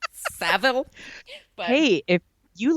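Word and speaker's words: Savile: it when we s we mispronounce things like Jimmy Seville how we say when it's savil hey if you like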